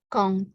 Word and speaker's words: quand: Kalau kita hanya mengatakan quand, D-nya nggak bunyi.